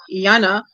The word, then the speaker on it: Jana: if she pronounce it it's j Janna Janna and uh but it's it's actually a name that you see many Africans girls named like that and we say Yana because the J is like a why